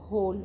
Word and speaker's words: whole: अब W के बाद इसमें H लेटर है, और जब अगर किसी वर्ड में W के बाद H होता है तो हमारा उसमें W साइलेंट हो जाता है, तो इसको हम पढ़ेंगे होल।